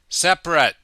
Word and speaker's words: separate: also an adjective and the pronunciation is different for the adjective we say separate game over how did